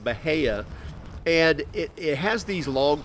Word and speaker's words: Bahia: Some people may call it Bahia grass. That's kind of how it's spelled. But most people will pronounce it Bahia.